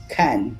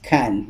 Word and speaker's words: Cannes: all right it says french review okay you pronounce it letter k silent s khan all right so humongo america and such among filipinos if you pronounce that then the way we pronounce it is can okay so you can film fest is famous